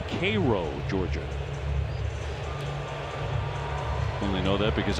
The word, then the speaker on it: Cairo: It looks like Cairo when you read it. It's actually pronounced Cairo, Georgia.